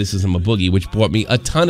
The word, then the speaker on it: Boogie: It's double O. Double O-G-I-E. Boogie. It's yeah, double O. Okay, yeah, all right. Yeah, you had it as Boggy before.